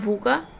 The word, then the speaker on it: भूखा: वो पढ़ लेते हैं जैसे मैंने एग्जांपल भूका का दिया था तो यहां भूखा भूखा होता है झूठा नमस्कार